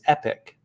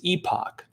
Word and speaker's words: Epoch: america the pronunciation is epic ep kind of like epic um if you're in the uk or canada technically the pronunciation is epoch but at epoch times